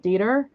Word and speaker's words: Dieter: And so this, I believe this is pronounced not Detour, but Dieter. I I thought it was German, but I don't think it is.